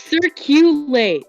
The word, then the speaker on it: SirQlate: It's circulate. Like circulate.